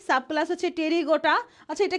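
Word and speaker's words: Pterygota: Subclass টেরিগোটা। এটা কিন্তু পি টেরিগোটা বইল না। এটা পিটা অনুচ্চারিত হবে।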